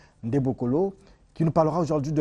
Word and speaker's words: Ndembokolo: Entretien avec Maître Tiburce Silver Ndebokolo, voilà, il faut bien prononcer son nom, Ndebokolo, qui nous parlera aujourd'hui de la purification spirituelle.